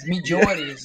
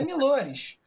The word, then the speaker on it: Millores: Milores. Só isso. Milores? Só isso? Tem gente que acha que é Milhores, mas é Milores.